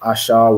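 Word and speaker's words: אשר: the tribe of Asha in the Hebrew it is a sh so Asha which means happy and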